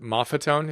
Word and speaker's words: Maffetone: you talk about, and I've been saying his name wrong, but Maffetone, is that the proper, closer to the right way to say it? Yeah, that's right.